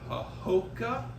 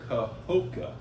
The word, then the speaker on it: Kahoka: So we're at our world headquarters in Kahoka, Missouri. How do you say that again? Kahoka. Kind of Yeah. like Keokuk. You don't put an L in it like Keokuk does?